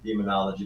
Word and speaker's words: Daemonologie: You know, it's pronounced as demonology, but it's Daemonologie.